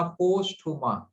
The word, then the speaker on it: posthuma: फेरेटीमा that is ribbon like, फेरेटीमा पोस्टहुमा। पोस्टहुमा, POSTHUMA, फेरेटीमा, PHERE, फेरे। देखिए मैं फिर से प्रोनाउंस कर रहा हूँ, PHERE, फेरेटीमा, TIMA, टीमा, पोस्टहुमा, POSTHUMA।